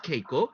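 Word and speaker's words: 稽古: In Japanese pronunciation, it is keiko.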